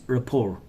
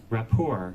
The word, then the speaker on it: rapport: with maintaining a good rapport or a poor Rapport or rapport it means link or tie look at it Rapport Rapport or rapport Rapport or rapport t the letter T sell it bonds link